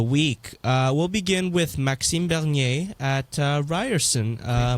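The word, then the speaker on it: Maxime Bernier: recap of the week uh we'll begin with maxim bernier at uh ryerson uh pronunciation thank you well i do speak french so uh maxine bernier was at ryerson and um also yeah maxine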